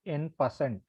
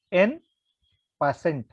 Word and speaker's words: en passant: This is called as en passant. Okay, while pronouncing, you can pronounce like en passant.